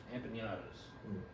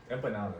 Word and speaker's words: empanadas: man came in with anatas I'm saying that wrong I know yeah yeah it does it on purpose that's you can't say it right I promise you empanadas empanadas yeah that's better see empadas empadas [